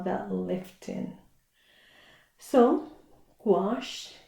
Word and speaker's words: gouache: lift in so wash if you have not gotten the pronunciation as that this is a cute trick instead of saying gosh remember the word squash but don't put the X on but put that gun gosh gosh alright so quash so